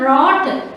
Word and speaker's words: wrought: Cast and wrought, W is silent, and hammered to design.